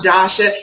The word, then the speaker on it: Dasha: of saying it but it's just like tasha but with the d if you haven't met me yet i am love coach dasha and that is my